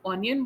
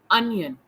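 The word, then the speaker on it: onion: ध्यान रहे, बहुत लोग उसे ऑनियन बोलते हैं, एक्चुअली में इसका प्रोनाउंसिएशन होता है अनियन।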